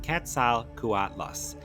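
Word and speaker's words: Quetzalcoatlus: Ketzel Kuatlas, pronounced Ketzal Kuatlas, named after the Aztec feather serpent god Kettzel Kuatal.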